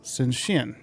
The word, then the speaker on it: Shenzhen: Take for a totally random example, SHENZHEN. SHENZHEN. What's the shin in there? Can you just ignore the H? Spoiler warning, you can't. SZH is its own sound in Chinese.